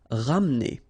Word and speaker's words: ramener: Ramener. Okay, don't insist here on the E. Ramener.